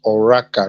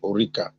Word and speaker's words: Oraka: here my name is oraka not eureka my name is